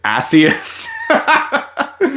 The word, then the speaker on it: Asus: Don't use the RS pronunciation because it means ass in Britain. Asus.